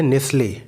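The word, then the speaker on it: Nestlé: जब कभी भी टी से पहले एस आ जाए तो टी साइलेंट हो जाता है। जैसे नेस्ले, नेस्ले एक प्रोडक्ट का नाम है, कंपनी का नाम है। उसमें एन, उसकी स्पेलिंग है NESTLE, यहाँ पे टी साइलेंट है। नेस्ले हम प्रोनाउंस करते हैं नेस्ले, या इसमें भी टी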